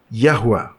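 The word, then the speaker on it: Yahweh: Sekarang Jehovah atau seperti yang kita ketahui pengucapan yang benar adalah Yahwa.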